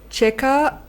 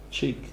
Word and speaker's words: Cheikh: It says, I believe it was Cheka Aunt Diop. I don't know if I'm saying it correctly. Cheka? Chek? Sheik. Yeah. Sheik. Yeah, Sheik. It's a Cheikh. Yeah, like Sheik.